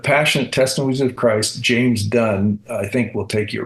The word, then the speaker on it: Dunne: testimonies of Christ James Dunn I think will take you right to it on any platform and it's du n NE the E is silent correct all right I was